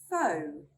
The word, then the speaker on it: faux: The one I found was faux. Let's make a simple sentence. She's wearing a faux coat.